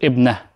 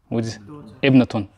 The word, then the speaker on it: ابنة: طيب, but by the way, he doesn't pronounce the last حركة. Because you're not going to always pronounce, you stop on the last letter. So he said ibna. What are you saying? Ibnatun.